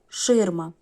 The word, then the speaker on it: ширма: приголосні будуть тверді наступне слово ширма два склади наголос на перший дві голосних і всі